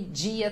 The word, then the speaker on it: dia: Todo dia, aquele dia também, né? Aí é começo, né, da palavra, mas o de com in, começo de palavra, ele também fica com esse som de di.